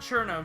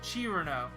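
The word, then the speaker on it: Cirno: Is that how some people pronounce Cerno? Alright, whatever. Not Cherno, Chirno.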